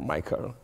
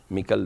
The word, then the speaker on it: Mikel: Ah, es que yo estoy pronunciando en inglés, por favor, Michael. Mikel de Viana.